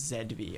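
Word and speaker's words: ZB: She's Canadian, so it's Zedby.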